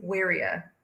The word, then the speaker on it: Wirya: do you want to fix your last name pronunciation which which do you I can't control your hair my surname is warrier is that what a Sur is I KN